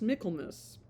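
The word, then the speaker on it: Michaelmas: not be married until Michael, it's pronounced Miklmus.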